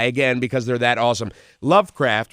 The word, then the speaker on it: LVCRFT: Lovecraft, which is spelled LVCRFT, they are a group